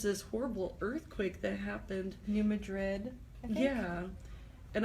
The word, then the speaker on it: New Madrid: New Madrid, I think. Yeah. And I've heard somebody call it Madrid or something like that, like a southern pronunciation.